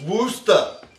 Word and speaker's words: Worcester: viewing it in Massachusetts, it's Worcester. Yeah. Which I don't even know how you get to that few syllables from that many letters.